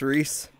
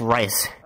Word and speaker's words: Reese: It's Reese. It's Reese. Reese. Okay. I always say his name wrong, but I'm learning, that. So... What's your name? I call him, like, Rice.